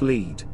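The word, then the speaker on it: Lead: Pronounced Leed.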